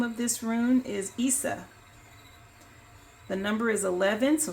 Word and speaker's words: Isa: But it is pronounced Isa.